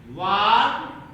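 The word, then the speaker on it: walk: अब यहाँ से थर्ड फॉर्म है वॉक, एल साइलेंट है इसमें, वॉकड हो जाएगा इन गार्डन, इन गार्डन।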